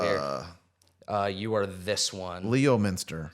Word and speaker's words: Leominster: Leominster. Spell it out. Leominster.